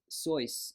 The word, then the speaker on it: Seuss: Seuss, you may know him as Dr. Zeus. His the actual pronunciation, the story I heard is that it's Seuss, and he got tired of correcting people. And finally, he gave up and said, "Okay, fine,